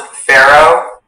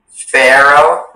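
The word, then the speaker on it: faro: The word can be pronounced pharaoh, pharaoh, pharaoh.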